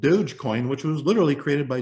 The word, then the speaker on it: Dogecoin: named after their dog doggy coin but they pronounce it dogecoin and uh guess what there's 20 billion u.s